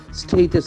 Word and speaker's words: status: It has got the A sound. S-T-A-T-U-S. So most of the Malayalis will make a wrong pronunciation there. That A sound. Status. Status, cater, data.